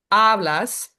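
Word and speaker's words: hablas: So in a in a word like ablas, it's two syllables. Ablas. And so we know that it's going to go on the first one, which is the the penultimate, the second to last.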